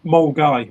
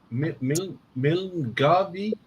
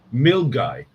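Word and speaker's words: Milngavie: Well, the one he had before that, Mulgai, was brilliant. Because for years, so we're getting on the Milner-Garvey train. I know it's pronounced Mulgai.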